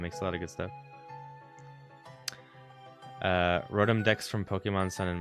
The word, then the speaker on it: Rotom: Rotom is how you pronounce it.